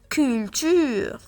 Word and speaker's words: culture: On a U après le C, donc on la prononce K, culture.